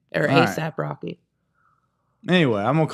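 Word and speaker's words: A$AP Rocky: I assume you say it ASAP. But it's spelled with a $. Aesop Rocky, I think is what they say. Or ASAP Rocky.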